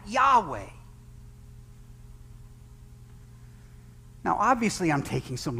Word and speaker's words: Yahweh: for short i am it's pronounced in hebrew the underlying hebrew ahe you know yahweh you've heard that yahweh now obviously i'm taking